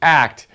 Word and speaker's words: ACT: acceptance and commitment therapy AC T pronounced act it's a really cool